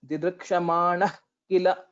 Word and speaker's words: दिदृक्षमाणः किल: So while pronouncing this didrikshamanah kila, so the sound of the jihva mulya should be heard. Basically, whenever the visarga is there and followed by ka or kha, sound similar